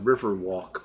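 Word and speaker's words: Walck: just a bar really it's called river walk but it's spelled w-a-l-c-k and we just love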